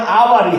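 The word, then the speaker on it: hour: अब यहां आवर, हावर नहीं हम पढ़ते हैं इसको, क्या पढ़ते हैं? आवर पढ़ते हैं।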